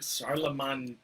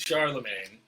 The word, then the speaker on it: Charlemagne: Charlemagne Magna. Magna. We pronounce it Charlemagne. I believe the French is Charlemagne. Charlemagne. Yes, French. The French, as usual, add multiple letters that you just ignore all those letters.